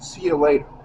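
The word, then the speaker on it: Ciulator: It's called It's uh C I U L A T O R pronounced see you later.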